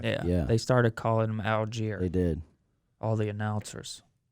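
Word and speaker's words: Allgeier: Algier. Algier. I think it's Algar. I thought it was Algier too, but the announcers say Algier.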